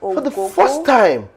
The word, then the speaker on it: Ogogo: veteran Ogogo, as they call him, who lost Ogogo. For the first time, you right?